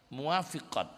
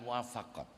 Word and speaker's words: muwafiqat: enggak ada rasa sedih muwafiqat bacanya bukan muwafaqat kalau almafaqat karya asyatibi